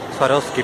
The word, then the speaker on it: Swarovski: Swarovski todavía sin abrir Swarovski perdón no se pronuncia la B Acá está la otra